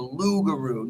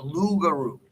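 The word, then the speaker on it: loup-garou: the they called the lougaroo not the loot but it's the b the p is silent right the lugaru right right and that's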